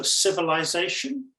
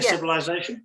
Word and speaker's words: civilization: of the other words so civilization could you say civilization no I don't I say civilization oh what civilization okay right right like I'm starting to hear the difference there you pointed out okay yeah civilization versus civilization okay and now that I